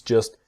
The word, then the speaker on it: just: Things just shouldn't be so complicated. and things just shouldn't be. So the T in just is silent and the T in shouldn't silent.